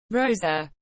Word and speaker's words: Rosa: She introduced another alter ego, Rosa, pronounced with an exaggerated R, to commemorate her December 2010 appearance on Lopez Tonight.